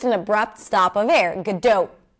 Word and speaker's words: Gadot: This is why most people pronounce it as gdo, but in Hebrew it's a pure o.